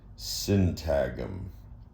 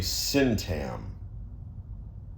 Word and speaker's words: syntagm: Cintagum. I mean, how is it supposed to be pronounced? S I N T A GM GM pronounced like paradigm. So that would be cintam or cintag cintagum.